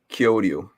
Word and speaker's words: Kyoryu: Kyoryu. Yes, exactly. It means dinosaur.